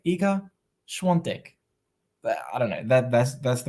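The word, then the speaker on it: Świątek: Iga, but the thing is, it sounds like there should be an N when they pronounce it. Iga Schwantek. Schwantek. Is that correct? Iga Schwantek.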